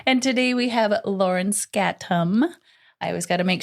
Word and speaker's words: Skattum: So, and today we have Lauren Skattum. I always got to make sure and pronounce her name correct. Is that right? Say it. Skattum. Skattum. Good morning. It's exactly how it sounds or looks too. Skattum.